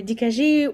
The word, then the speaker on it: Dikajee: Yeah, I heard Dikajee and even Dikayee.